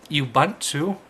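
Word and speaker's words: Ubuntu: say download knopic knopic is a live CD it's spelled k n o p p iix or you bunt to if I'm saying that right ubu n Tu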